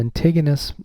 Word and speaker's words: lentiginous: Like from Acral lentig, like big, tig, enus. Acral lentiginous melanoma.